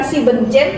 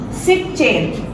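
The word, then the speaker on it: siebzehn: Chin Z Chin nah kecuali yang tujuh bukan siben Chin tapi shif chain shif Chin shif chain nah n-nya dihilangkan jadi SH chain chain no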